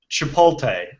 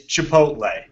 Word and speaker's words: chipotle: There's a lot of people that say Chipotle. Oh. It's Chipotle. There's It is. before an L. That means you pronounce it that way.